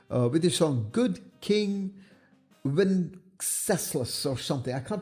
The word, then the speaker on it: Wenceslas: their song Good King Wenceslas or something. I can't pronounce that. Sorry, guys. It's Wenceslas. That's how you pronounce it.